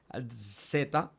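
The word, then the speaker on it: zeta: complicado para nosotros Porque no es tan común en español y suena como una dz como un zumbido Ok entonces esa es Z en su sonido más exacto que yo pueda después tenemos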